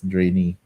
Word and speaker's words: Draenei: I always pronounce it as Draenei, but I've heard it online. It's Draenei.